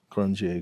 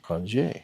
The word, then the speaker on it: Qronge: And if you do hear me say crunch a few times in there, that's because how I used to pronounce the name of it, but then I found out that they actually preferred to say cran.